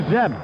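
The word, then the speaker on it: Zdeb: And the batter now, Joe Zeb. That's spelled Z-D-E-B.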